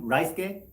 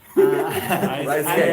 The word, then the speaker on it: Ryusuke: Hi guys, I'm Ryusuke. Please call me. Ryusuke. Yeah, sounds like Rice.